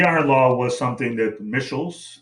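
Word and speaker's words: Michels: law was something that mitchell's that's the way he pronounced his name robert mitchells studied um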